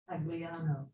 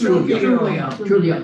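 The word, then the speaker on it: Truglio: Tagliano. No, actually, it's Trulio, it's Sicilian, the G is silent.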